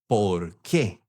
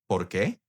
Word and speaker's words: por qué: And there is a tiny little bit of a difference on how you pronounce them. The question one is ¿por qué? The because is porque. So, ¿por qué?